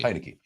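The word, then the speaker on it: Heinicke: Heineke.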